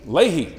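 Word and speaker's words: Leahy: Leah, is that how you say his name? Lehey.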